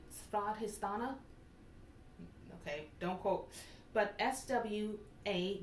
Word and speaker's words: Swadhisthana: I will attempt the Indian pronunciation, Swadhisthana.